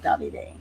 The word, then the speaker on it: Davide: Davide is 3 syllables. The accent, the hardest accent, is on the first syllable.